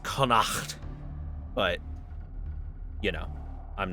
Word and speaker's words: Connacht: By the way, chat, I know it's supposed to be pronounced Connacht, but, you know, I'm not Gaelic enough to on command.